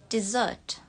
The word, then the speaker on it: dessert: Jadi yang atas itu kita bacanya dessert. Untuk British dessert. Kalau American dessert. Dessert. Jadi awalnya I. Dessert atau dessert.